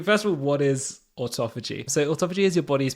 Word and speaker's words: autophagy: you see that always stump me in the pronunciation and autophagy is one of those every time I read it I say Auto fagy in my head every time how I say